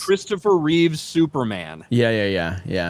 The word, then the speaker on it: Reeve: How about people that add the S to Christopher Reeve name? Reeves. It's Reeve. It's Christopher Reeve.